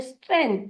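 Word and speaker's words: strength: शब्द है वह है स्ट्रेंथ स्ट्रेंथ तो यानी एसटी रे यानी आई एन यानी एन और थ के लिए हम यूज करेंगे टी एच का और जी होगा यहां पर साइलेंट इसलिए स्ट्रेंथ इस शब्द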